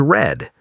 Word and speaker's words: read: Present is read, past is red. Listen one more time. Read, read present. Read, red past.